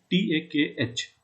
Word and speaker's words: Tag: You can always say Dienstag, but in general, whenever you will be talking to any German, it will be Tag, Takh.